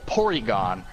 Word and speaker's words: Porygon: it was silly Oh porygon think about the name porygon this occurred to me like when I was in college like I never yes polygon it's like a it's a Japanese pronunciation of polygon and they kept it